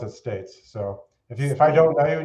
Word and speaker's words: Staat: pronounce it uh usually stats or the more proper Dutch pronunciation of stats but that's that's how